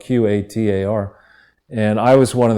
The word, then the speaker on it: Qatar: as well is is they pronounce it I think you know in the Middle East gutter but it's called qadar and I was one